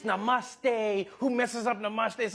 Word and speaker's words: namaste: on like dude it's not namaste it's namaste who messes up namaste